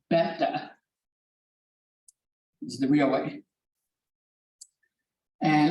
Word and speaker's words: beta: that is this word right there most Americans pronounce it beta that's Americans it's pronounced beta is the real way and I was in